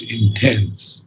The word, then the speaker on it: intense: Intense, not intense, but intense. Intense. Yes, the accent is on the second syllable.